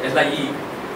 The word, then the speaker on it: Lie: Lie groups are some objects which were invented by a Norwegian mathematician by name Sophus Lie, spelled L-I-E, but pronounced Lie, not Lie.